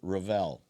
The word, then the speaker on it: Revel: Tell me what how you pronounce it. Just say it. Say the whole name. Savone. Rall.